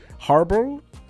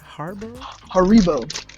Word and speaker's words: Haribo: Harbor? Haribo.